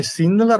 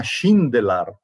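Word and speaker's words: Šindelář: il cognome sindelar ma sulla s c'è quell'accento eh che nelle pronunce slave vorrebbe dire che si dovrebbe pronunciare S per cui probabilmente il cognome di cartavelina G papir e Matias non è sindelar ma schindelar c'è qualche possibilità che sia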